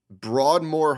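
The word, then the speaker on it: Broadmoor: Colorado Springs at the Broadmore Hotel am I getting that right broad more yeah how about that how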